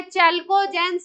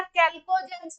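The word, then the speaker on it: chalcogens: है आपकी oxygen family oxygen family का दूसरा नाम है चलको जेंस या कैल्को जनस बोलते हैं क्या नाम देते हैं चलको जेंस या इसी को कैल्को जेंस भी प्रोनाउंस करते हैं और फार्मिंग फैमिली है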